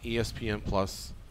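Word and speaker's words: ESPN+: And I should say it like this. On UFC on ESPN +1. Not +1. On ESPN Plus, and then it's their first card.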